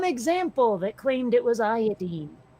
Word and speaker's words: iodine: No, element 53 is iodine. Iodine. Iodine. It's not pronounced iodine.